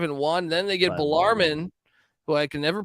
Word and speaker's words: Bellarmine: institution correctly but uh balarman is uh in Kentucky but any chance they could pull off the upset it's uh I I get the pronunciation it's Bellarmine it's because we played